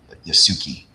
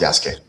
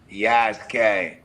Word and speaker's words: Yasuke: Yasuki. But it's pronounced it's pronounced Yaske. Yaske.